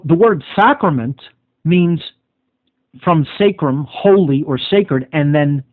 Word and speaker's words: sacrum: Sacrum in Latin means holy, sacred, like the divine. Sacrum, it would be actually pronounced.